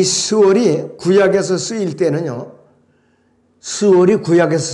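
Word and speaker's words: שאול: 자, 그리고 성경에서 지옥과 음부를 뜻하는 단어는 구약의 히브리어로 스올이라고 발음합니다. 스올. 신약의 헬라어로는 하데스라고 발음합니다. 이 스올이 구약에서 쓰일 때는요, 스올이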